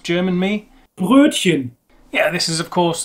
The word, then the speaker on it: Brötchen: Most people would kind of, first of all, we don't have an U in English. There's no umlauts. We don't have this U sound. So that is definitely very difficult. An English person would get quite close to pronouncing this in that they would use the nearest sound would be the U, Brötchen, Brötchen. And instead of the CH sound, which is Brötchen, maybe the SH sound that we have, a SH.